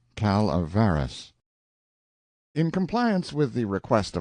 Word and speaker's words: Calaveras: notorious Jumping Frog of Calaveras County pronounced calavaras in compliance with the